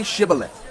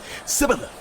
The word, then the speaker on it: Shibboleth: If he replied, No, they said, All right, say Shibboleth. If he said, Sibboleth, because he could not pronounce the word correctly, they seized him and killed him at the fords of the Jordan.